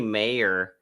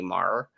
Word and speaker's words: Moore: never connected it because I pronounce it Tommy Mar, because there's no reason to call it Tommy Mayer, in my opinion. There, I mean, don't you need like an I or an E or some?